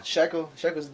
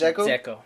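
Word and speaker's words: Džeko: Sheko's doing crazy good right now. That is Dzeko. Oh, Dzeko. Yo, you got your braces off. You should be talking perfectly fine. It's DZ. His last name is Dzeko.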